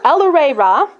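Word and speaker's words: El-ahrairah: So it's El-Re Ra, which Adams actually goes through a little spiel to make sure you're saying it right.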